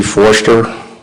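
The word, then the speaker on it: Forster: officer could you please state your name and spell it for the record yes c foster uh my last name was spelled f-o-r-s-t-e-r officer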